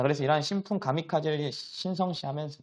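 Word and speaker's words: 神風: 시작했다 우리 신품을 이제 일본어로 한다고 하면은 일본어로 발음하면 우리가 미카 집니다 어디서 많이 트로 봤죠 자 그래서 이런 신품 가미카제 신성시 하면서 다 중에 2차 세계 대전 때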